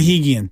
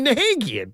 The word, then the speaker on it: Nahigian: Nahigian. Okay. Thank you. Dario Saric. No wonder you never call me. I've been calling you Nahagian.